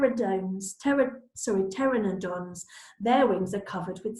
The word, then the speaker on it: Pteranodon: how do you say it Taryn Oh Don Pteranodon there we go I needed that lesson who